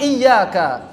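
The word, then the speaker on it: إياك: Kemudian pada lafaz iyyaka, ya dan wawu harus dinabar, ditekan.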